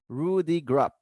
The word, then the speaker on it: Rudeegraap: Sinha, co-founder and CEO of Workspot, and Rudeegraap, co-founder and CEO of Sendoso. All right. Well, welcome to the Category Creators Podcast. Very excited. I have two great folks here, Amitabh Sinha from Workspot and Rudeegraap.